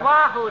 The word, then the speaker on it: Oahu: Lying on the sand at Oahu. That's pronounced Wahoo, dearie.